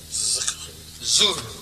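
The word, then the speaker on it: Dhuhr: Zuhr. But it's spelled with a D.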